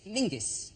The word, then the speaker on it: Menzies: His name is Mingus. Mingus, yes. Goss. Yeah. Yeah, but it's pronounced, it's spelled M-E-N-Z-I-S. Yes. Well, why are you looking at me like I'm insane? He's got That's Menzies.